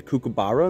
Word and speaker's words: kookaburra: What is that, a kookaburra in the woods?